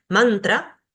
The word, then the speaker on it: mantra: La primera regla, y muy fácil, es que si una palabra tiene 2 sílabas, el acento va a recaer siempre en la primera sílaba, como en estos ejemplos que están acá. Guru, mantra, tantra, yoga.